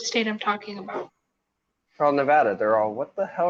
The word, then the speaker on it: Nevada: I say Nevada. Most people say Nevada. Like Nevada. It's Nevada.